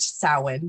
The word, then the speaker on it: Samhain: So we pronounce it Samhain here at the Apothecary.